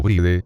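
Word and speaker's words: Bríd: magia de los nombres, deberá pronunciar Brid, o Bride, como Brid para que no rime con Ide, pues ha sido algo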